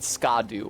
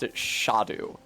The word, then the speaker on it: Scadu: a duu it was clear that most people pronounced it scadu or scadu uh but if there was an